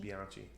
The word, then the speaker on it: Bianchi: And the bikes is it Bianchi or Bianchi? Bianchi.